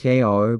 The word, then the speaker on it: Cairo: The city that should have succeeded, Cairo, pronounced Ko by locals, isn't a western mining town.